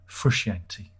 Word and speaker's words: Frusciante: Well, thankfully, John Frusciante, there are many pronunciations. I'm going to go with Frusciante, all right? You can say that I'm wrong in the comments, and I will ignore you.